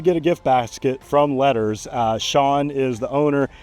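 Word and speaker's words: LETRS: So, letters, gifts, but note it is not spelled letters like you would think. It's spelled L E T R S and that's actually where I buy all my closing gifts.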